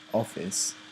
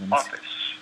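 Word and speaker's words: ὄφις: So serpent comes from the word office, which I think it is pronounced like that. Office.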